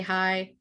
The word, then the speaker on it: Haigh: It's spelled Haigh in Irish, but it's still just hi, which people will use too.